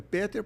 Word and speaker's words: Peter: Mas o Peter Safar, um anestesista, é Peter porque ele é austrica. A pronúncia não é não é inglesa, é alemã.